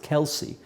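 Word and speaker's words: Kielce: kills k i lce in English it's pronounced Kelsey but I think in Polish it's kils after that they fled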